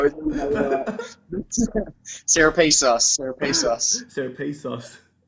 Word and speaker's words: Serepisos: With, you know, Serepisos, Serepisos, Serepisos. Serepisos.